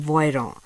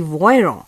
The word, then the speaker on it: Voiron: in the alps there is a factory in voiron the name of the city is spelt as v-o-i-r-o-n or in english v-o-i-r-o-n this city voyron is nearby these mountains of alps which produces